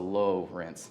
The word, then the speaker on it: Lowrence: It's spelled Lawrence, but with an O, so Lowrence, just a cool thing.